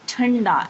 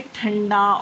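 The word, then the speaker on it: ٹھنڈا: When te or ta is joined with दोचशमी है, we pronounce th. Th. Like thanda. If anything is very cold or if anything is cold, we say thanda or thandi.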